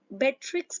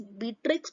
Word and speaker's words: Beatrix: e a vowel sound the correct pronunciation is batrix Potter but even if their reading is Beatrix Potter Let It Be please